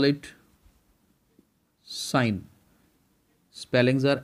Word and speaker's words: sine: six terms this s we will call it sign spellings are s i n e but actually